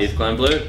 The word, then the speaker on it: Yves Klein Blue: here just up vogg here with Eve kin blue or how would you like to pronounce it guys e kin blue yes done we're in Adelaide guys was your